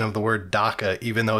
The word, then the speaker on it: dakka: It's dakka. It's literally that in every single book. Yeah, nothing's gonna change it. It's dakka.